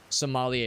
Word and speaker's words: sommelier: Sommelier is how you pronounce it, yeah.